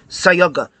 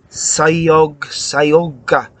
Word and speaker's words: Cayuga: It's not Cayuga, like an old-fashioned car, motor car horn. It's Cayug, is soft C. Unlike in Tolkien, which is C's are always this C is soft, like cellular, Sayoga.